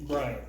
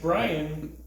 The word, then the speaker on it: Brian: the other day bro the name Brian two syllables that's Brian no it's not have you ever said Ryan Brian Brian right it's not Brian isn't it no kind it is where I am no there's Brian Brian yeah I believe there's an Irish name Brian and Brian might have derived from that but it's definitely two syllables my uh my Italian